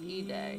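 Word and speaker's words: Eday: It's pronounced E-Day.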